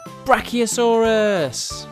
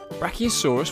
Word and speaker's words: Brachiosaurus: let's learn all about Brachiosaurus how do you say that again BR key o s Russ do you know how